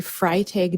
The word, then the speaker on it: Freitag: my name is Freitag it actually means Friday in German so that helps you remember how to say it and guys thank ya